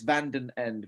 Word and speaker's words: Van Den Ende: How do you properly pronounce your last name? I still have a problem. It's Van Den Ende, Van Den Ende, Van Den Ende, Van Den Ende.